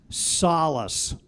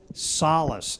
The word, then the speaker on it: solace: The word is solace. It's a verb meaning to console. Solace. It can also be pronounced solace.